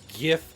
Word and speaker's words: GIF: just hates my guts the reason I pronounce gif as GIF is because I don't pronounce gold as jold I know that's kind